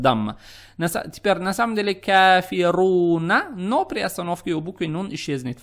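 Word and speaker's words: كافرون: Произносите букву Ра с сильным нажимом, поскольку здесь стоит дамма. На самом деле это "кафируна", но при остановке монахиня исчезнет.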